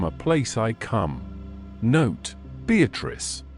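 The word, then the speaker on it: Beatrice: Note Beatatrice. I use this word as it is pronounced in the Italian as consisting of four syllables of which the third is a long one.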